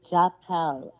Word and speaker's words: Jzapal: JZAPAL is Japel, but you can say the American way is Japel. The Z is silent.